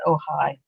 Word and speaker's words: Ojai: town in in california i think it's ojai that's how you pronounce it where they literally built